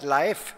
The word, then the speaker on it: LAEF: As a curiosity, I will let you know that LAEF is similar to the Norwegian pronunciation of LAEF, as in Leif Erikson, the great explorer and first European discoverer of North America.